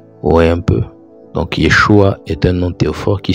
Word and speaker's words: Yeshua: et successeur de Moïse le nom était généralement prononcé Yeshua mais vraissemblablement yeshu dans la prononciation galiléenne vous voyez un peu